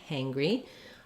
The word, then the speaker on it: hangry: just like the word angry with an H sound angry hangry um it's also like the word hang um like a hanger or hang something up with a re sound so we have first syllable stress the ah and the um and then that this NG is an example where we have an um and a g sound um so unlike singer